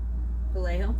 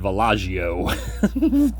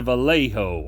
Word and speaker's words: Vallejo: Vallejo. Vallejo. I keep calling it Vallejo. It's a Vallejo.